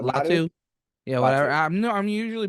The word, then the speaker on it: Latu: Lotto. I'm normally pretty good with the Lotto? names. Lotto? What? Would Yeah, you pronounce it Latu.